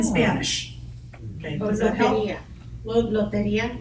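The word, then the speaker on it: Lotería: Loteria. Loteria. See, I never said it right.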